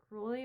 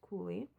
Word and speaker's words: Cooley: I can't say that word. Cruelly, which would totally fit him, but it's Cooley.